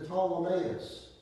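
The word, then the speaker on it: Ptolemais: time we came to ptolemaeus to pee is silent told him as we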